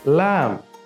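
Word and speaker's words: ل: এর পরবর্তী হরফ হলো লাম সবাই আমার সাথে পড়ো লাম লাম লাম হরফ উচ্চারণের সময় আমাদের জিহবার মধ্যখান উপরের তালের সাথে লাগবে লাম পরবর্তী হরফ হলো মিম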